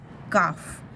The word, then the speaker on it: calf: देखो यहाँ पे कुछ हमें नाउन्स दिए हैं सिंगुलर में, CALF, काफ, उसको हम प्रोनाउंस क्या करेंगे, काफ, काल्फ नहीं बोलेंगे, काफ।